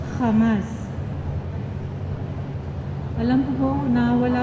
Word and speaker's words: Hamas: yung kaba ko kasi alam ko po yung kamas o hamas dito sa Philippines pero yung pronunciation po sa israel is hamas Alam ko po na